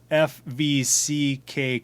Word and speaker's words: Fvck: from co-owner Otto Dilba, he says that it rhymes with duck, so I sense a lot of editing in your future.